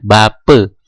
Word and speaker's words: Bapa: juga diperhatikan Selain itu huruf a di belakang sebuah kata itu dibaca the misalnya ada kata yang tulisannya Bapa nah tapi kita membacanya atau mengucapkannya Bape Begitu juga dengan kata-kata